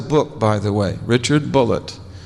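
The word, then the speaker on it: Bulliet: He spells his name B U L L I E T and he pronounced it Bullet. He corrected me. He said, "No, my name's not Bouier. It's Bullet."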